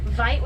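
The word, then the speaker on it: wyd: the area as well white is a mispronunciation of an apricons word Vite which means wide and it refers to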